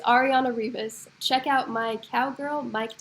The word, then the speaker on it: Arianna Rivas: shout out and be like, hey, Cowgirl, it's Arianna Rivas. Is that how you pronounce her name? Mhm. Yeah. Okay. Hey, Cowgirl, it's Arianna Rivas.